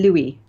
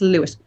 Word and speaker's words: Louis: No, that would be Louis. I know that you people can't say Louis, and you think of it. You try to pronounce it as Lewis.